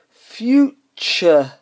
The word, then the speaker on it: future: So, as an example, future, so future, is actually pronounced future with a ch in the place of the t, and it's more a schwa sound.